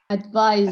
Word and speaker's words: advise: Can you pronounce the noun for me? Advice. That's great. And the verb? Advice. Sounds very similar. This one here, pretend it's a z like this. How would you pronounce it? Advise. Advice. Advise, yeah. Advice. Now that's a big difference.